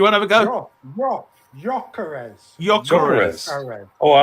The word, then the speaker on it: Gyökeres: I'm going to try and pronounce it. They're trying to, abbreviate for me. Garesh. I can't do it. Do you want to have a go? Gyökeres. Oh, I like Gyökeres.